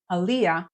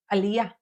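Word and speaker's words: עלייה: if you're pronouncing it Aliyah all you need to do really is shift the syllable stressing to the end and say Aliyah instead of Aliyah Aliyah he made an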